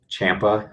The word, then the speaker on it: Ciampa: LinkedIn so it's h Thomas Champa and the last name is spelled c i a m p a uh and then I'm also a little bit on Twitter uh which is Champa my last name all